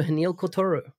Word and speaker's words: Haniel Croitoru: you can find him on twitter at h welcome to the show hanil kotoru thank you did i pronounce everything right you did wow very good